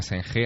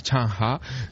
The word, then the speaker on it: Zheng He: Allí no se llama Zheng He, allí se llama Chang Ha, que es... Veo que has tomado buenas clases. Sí, allí es como lo pronuncia. Bueno, claro, a fuerza de yo mencionárselo a ellos y que pusieran cara de, no sé, de noruegos, pues finalmente me explicaron que no se llamaba Zheng He, sino Chang Ha.